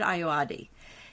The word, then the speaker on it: Ayoade: And the writer who came up with this show said, I went to the actor Richard, it's a little funny pronunciation, Richard Ayoade.